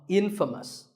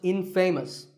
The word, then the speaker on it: infamous: you might just become infamous this word is the opposite of famous and it means famous for something bad but it's not pronounced in famous it's pronounced infamous all right I hope